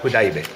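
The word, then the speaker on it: Hudaybiyyah: Hudabiyya. Hudaybiya.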